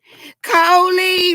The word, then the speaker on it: Coley: Coley rhymes with goalie.